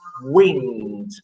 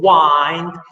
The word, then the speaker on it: wind: find what wine look i should pronounce wind but in order to respect the rhyme scheme i have to say and find what wind serves to advance an